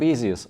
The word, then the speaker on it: Baseus: ediyorlar gelin birlikte bakalım Biz genelde markanın ismini yazıldığı gibi yani baseus diye okuyoruz Ama merak edip araştırdığımda bunun Basic olduğunu öğrendim ama markanın isim okunuşu konusunda kesin miydi asası yok yani onu istediğimiz gibi alıştığımız gibi okuyabiliriz ben daha önceden baseos diye alıştığım için video boyunca baseos diyeceğim Bu iki ürünü birlikte